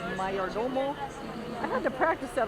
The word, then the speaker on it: Mayordomo: Can't read it now, but it's Mayordomo, kind of like mayor and domo, but you pronounce it like Cinco de Mayo, so Mayordomo.